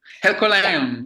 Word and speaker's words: Herculaneum: He followed me around the site at Herculaneum, and I'm pronouncing that wrong, aren't I? Is it Herculaneum? Yeah. Hercolano.